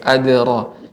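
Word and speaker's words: أدراك: Ya, adra. Ibu, untuk huruf dal. Adra. Wa ma adra. Adra. Ra tebal.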